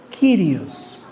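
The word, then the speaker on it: κύριος: Ellos saben que se está hablando del Dios de Éxodo 3, pero ahora se pronuncia en el griego kirios.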